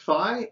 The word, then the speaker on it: phi: the uk it's pronounced phi in greece it's pronounced fee and in the us we pronounce it phi so this is phi